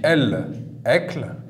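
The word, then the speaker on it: الأكل: Donc on voit bien, on a alif lem, ça confirme la règle qu'on avait vue. Sur le lem lunaire, il y a un soukoun. On l'écrit, on le prononce, on dit el-ekl.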